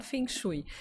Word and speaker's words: Feng Shui: Shui ou Feng Shui então a pronúncia há vários tipos de pronúncia porque o Feng Shui Na verdade tem origem na China e existem muitas pronúncias porque existem Várias escolas de fenu aqui no Brasil eu prefiro falar fenu mas há quem diga fui há Também quem queira falar um pouco mais né sofisticado que original fonu ou